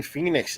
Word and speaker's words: Phoenix: Joaquin Phoenix.